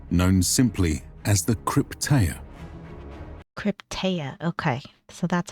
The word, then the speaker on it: Krypteia: Krypteia, okay.